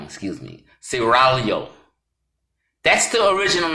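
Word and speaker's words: Serraglio: of ciragalo pronounce it gotta roll the tongue excuse me ceralio that's the original name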